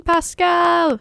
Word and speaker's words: Paschal: This week, we have the one and only Paschal. Woohoo! Paschal. Gotta put that out there. It's okay. It's spelled weird.